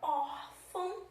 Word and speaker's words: órfão: Como é que nós vamos acentuar a palavra órfão, tá? Na sílaba tônica, que é or.